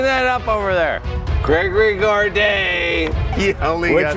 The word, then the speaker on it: Gourdet: Gregory Gourdet. He only which got... rhymes with gourmet.